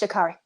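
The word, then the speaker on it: Sha'Carri: was like well i'm making debut honey it's shakari shakar okay i love her and then you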